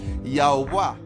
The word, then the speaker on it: Yahuah: así el nombre de yahua que se pronuncia algo así como yahuah Jehová no es la pronunciación correcta Esta es la suma